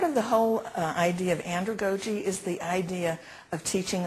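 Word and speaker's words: andragogy: okay is this a new word to you Andre GOI I want you to say it with me Andre GOI okay let's spell it a n d r a g o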